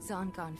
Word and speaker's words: Zangan: Zangan is how it's pronounced. I always thought it was Zangan. Zangan. I gotta get used to that.